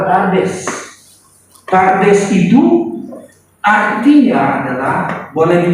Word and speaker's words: Pardes: Ya, ini bacanya adalah Pardes.